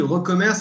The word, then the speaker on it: recommerce: La prononciation est bonne, c'est bien recommerce que tu préconises, Benoît? Oui, merci Frédéric. Bonjour à tous et à toutes. Oui, recommerce, puisque nous sommes dans la révolution du commerce.